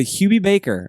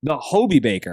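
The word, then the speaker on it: Hobey Baker: lot of things yeah is it the hobie baker my bad not hubie hobie baker or hobie baker what is that it's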